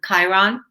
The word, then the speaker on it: Chiron: it right but the wounded healer is it kieran yeah the one chiron chiron yeah i didn't i thought i was